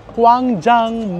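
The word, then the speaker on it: Gwangjang: tayo dito tayo sa kwang Jang market so letter k daw kasi you pronounce it as letter k but it is spelled as letter G guang Jang dito so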